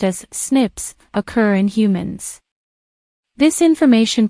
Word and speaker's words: SNP: where single-based DNA differences snps single nucleotide polymorphism pronounced as Snips occur in humans this information promises to revolutionize